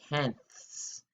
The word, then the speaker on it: tenths: It's worth 5 tenths, because that place value is called tenths with like a snake sound at the end.